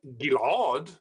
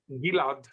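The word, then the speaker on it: Ghil'ad: not in israeli so in israeli my name is not gillard but rather gillard just like julia gillard okay i would like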